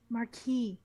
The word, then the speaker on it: marquis: diamond marquis diamond yes marquee marquis don't pronounce the s whatever she's gonna get